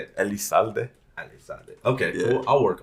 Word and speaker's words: Elizalde: Elizalde.